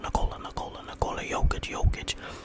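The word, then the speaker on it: Nikola Jokić: Actually, it's pronounced Nikola Jokic, averaging 28, 16, and 10.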